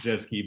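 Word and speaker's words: Rzewski: wrote it out because it's not pronounced the way that you might think but it's pronounced jet ski but uh he has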